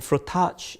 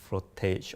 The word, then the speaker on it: frottage: And Frottage is actually a title that some people have problems pronouncing, like whether is it a French word or is it an English word, or do you pronounce it as frottage or frottage?